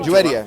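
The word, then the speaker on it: Juwayriya: Juwaria, is that how you pronounce her name? Juwaria, yeah.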